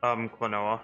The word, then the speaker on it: Klonoa: It's like, or it's like, play, how do I pronounce it? Klonoa.